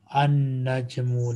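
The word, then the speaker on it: النجم: An-najmu, lam is silent.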